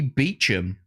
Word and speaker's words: Beauchamp: And Beauchamp is simply Beecham.